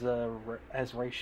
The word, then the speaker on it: Ra's al Ghul: Casted Liam Neeson as Ra's al Ghul. Called him Roz for some reason. Yeah, which I wouldn't be shocked if Roz is technically the actual pronunciation, but I don't care. Ra's sounds way cooler.